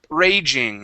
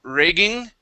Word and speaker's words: raging: word is the word raging instead of ragging it is Rage ra Raging Raging there you go okay give